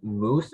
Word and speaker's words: mousse: 31 yes hi um this word has a homonym moose um moose can I have all the information please sure um moose is the only pronunciation it is a noun